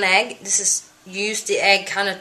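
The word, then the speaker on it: ägg: But it's spelled with the A with 2 dots. But it's pronounced egg.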